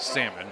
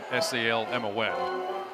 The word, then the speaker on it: Salmon: By the way, Salmon does spell her name like salmon, S-A-L-M-O-N.